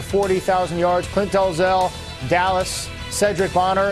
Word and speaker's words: Sherdrick: active all over 40,000 yards Clint delzell Dallas Cedric boner it's yes it's spelled Sherri but it's pronounced Cedric he's close to 41,000 and Andy Kelly leading